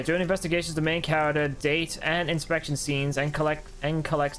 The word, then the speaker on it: Date: His name is Date. Not Date. Date. That's how you pronounce it in Japan.